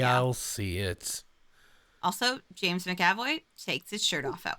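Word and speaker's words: McAvoy: again please oh no how is it actually pronounced it's James makoy makoy macavoy I've been saying it wrong my whole life I heard you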